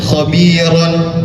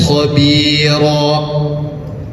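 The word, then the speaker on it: خبيرا: Maka cara membacanya bukan dengan harakat yang aslinya aliman khabiron. Enggak seperti itu. Karena dia masuk pada hukum mad iwad yang dibacanya tidak dengan harakat aslinya yaitu aliman khobir. Panjang bacaannya dua harakat.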